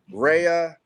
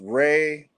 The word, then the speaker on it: Rea: Well, you can say Rhea. It can be pronounced Ray or Rhea.